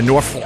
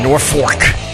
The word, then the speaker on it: Norfolk: I like to say Norfolk. How do you say it where it almost sounds like you're cursing? Yeah, Norfolk.